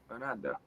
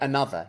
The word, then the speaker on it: another: Okay, but you're not saying this, another. Remember, the sound is long.